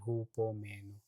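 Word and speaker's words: ὑπομένω: natin yun peroung word na endure 'di ba hupo meno endure ho hypomeno pero ang pronunciation who po meno ibig sabihin take patiently remain persever pinag-usapan natin kanina perseverance of the saints have fortitude maging matigas.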